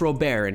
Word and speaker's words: Robert: know you're gonna say it's pronounced robert he also says he's pronounced roe baron he's from cuba no